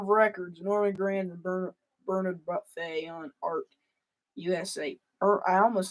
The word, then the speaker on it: Buffet: Songbook from Verve Records, Norman Grand and Bernard Buffet on Art USA. I almost said Bernard Buffet. It's Buffet.